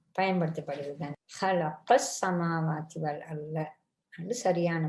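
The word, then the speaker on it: خلق: ஹலக இது ஹா உச்சரிக்கணும். நொக்கத்தை வந்தால் ஹா.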